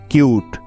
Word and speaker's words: cute: আর তখনই কিন্তু ইউ এর উচ্চারণটা ইউ এর মতো হবে, অর্থাৎ ইউ এর লং সাউন্ড হবে। তাই কিন্তু এখানে ই কে নেওয়া হয়েছে, CUTE, কিউট।